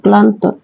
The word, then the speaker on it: ক্লান্ত: হয় না যেমন দেখো ক্লান্ত ক্লান্ত সঠিক উচ্চারণ হবে ক ল আকার ন তকার ক্লান্ত এটা হলাম হবে আচ্ছা প্লাবন প্লাবন সঠিক